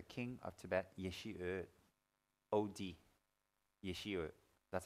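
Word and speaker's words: Yeshe: Yeshi. That's how they spell it.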